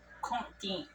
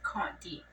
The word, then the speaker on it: Conti: And if he hasn't told you, his Indian name is Conti. If you don't know how to say it, like when I type it online, it's Conti.